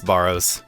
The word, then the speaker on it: Barrows: The one thing that I will share from this intro is that apparently I've been pronouncing Barrows incorrectly. It's Burrows.